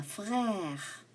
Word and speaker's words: frères: S is silent. J'ai 3 frères.